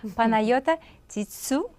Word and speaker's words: Panagiota Tsitsou: She did train me a little bit how to pronounce her name correctly. Paneayota Titsu.